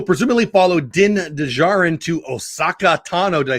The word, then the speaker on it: Ahsoka: Which will presumably follow Din Djarin to Osaka Tano. Did I say it right? Ahsoka.